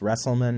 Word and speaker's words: Westlan: your name wrong Bob it's westlan not that was my fault